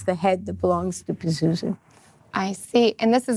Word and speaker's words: Pazuzu: love that that's so funny so you played Pazuzu am I saying it right yeah that you